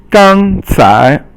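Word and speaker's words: 刚才: So the next one is 刚才. 刚才 means first tone and then second tone, and it means just now.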